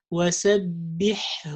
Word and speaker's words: سبحه: So we have to say jibahuhum, jibahuhu, hum, jibahuhum, and the other one وَسَبِّحْهُ لَيْلًا طَوِيلًا. وَسَبِّحْهُ. سبحه. We don't say جباههم جباههم, or we pronounce one of them and we say جباههم. No. Or وسبحه ليلا سبحه. You see, it's very easy to say سبحه ليلا. No, it's جباههم سبحه ليلا طويلا. And also one of the